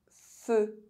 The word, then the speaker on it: feu: EU is pronounced E if at the end of a word. Feu.